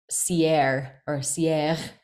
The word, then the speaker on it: Sierre: in a tiny mountain town called Sierre, if I were to try to pronounce it correctly in French.